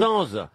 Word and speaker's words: Sainz: Sens. Oh, mais enfin, prononcez-le bien. Oui, moi. c'est à l'espagnol, hein, ça que je le prononce moi.